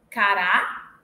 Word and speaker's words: cará: apresentar as seguintes distinções eu tenho cara e cará Então cara é paroxítona cará oxítona cak caqui cak paroxítona caqui